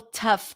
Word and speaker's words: tough: t so that's okay the U in this word is a cup sound tough tough which is